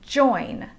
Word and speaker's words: join: Let's look at the word join. The O and the I make the diphthong sound oi.